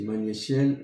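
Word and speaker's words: Magnétiel: Mais c'est Magnéciel, ça s'écrit M-A-G-N-E-T-I-E-L.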